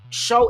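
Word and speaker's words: Shough: Show is I swear it's spelled show. O U G H is just like do. You know what I mean? Show. Tyler show.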